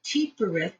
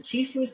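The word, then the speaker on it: Tiphereth: When that paring away is done, the energy flows into Tifereth, the pH is pronounced as an F, which equates on the tree of life to your higher self.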